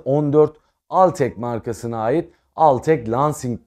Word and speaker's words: Altec Lansing: al tek markasına ait al tek lansing diye okunuyor Sanırım bir klavye ile